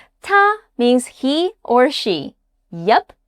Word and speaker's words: 他: 他 means he or she. Yup, same sound. The character is different, but the pronunciation is the same.